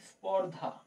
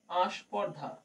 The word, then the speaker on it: স্পর্ধা: এরপরে ধর কেউ কোন শব্দকে স্পর্ধা মনে কর শব্দ আছে স্পর্ধা স্পর্ধা শব্দটাকে কেউ উচ্চারণ করল আস্পর্ধা আসলে আমরা কথা বলতে গিয়ে এই স্পর্ধার বদলে আস্পর্ধা শব্দটাই বেশি ব্যবহার করি দেখবে কোন বাংলা সিনেমা